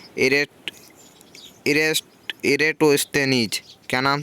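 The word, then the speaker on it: Eratosthenes: हमने तो एक ही सुना था एजेंट इरेस्ड इरैटोस्थनीज क्या नाम था मैं भी बड़ी मुश्किल से इसका उच्चारण कर पाता हूं फिर भी इरेटोस्थनीज यह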